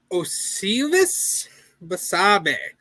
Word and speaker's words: Osleivis Basabe: Osleivis Basabe.